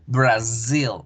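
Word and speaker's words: Brazil: No decimos Brasil, que en español se escribe con S, en inglés con Z, decimos Brasil, Brasil, zil, zil.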